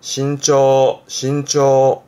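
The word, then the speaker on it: 身長: 발음은 신초.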